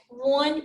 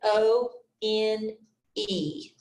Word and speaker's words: one: pronounce it one it almost sounds like there is a w there all right w-u-n but it's not spelled that way when you write one you have to dispel it o n e all right one our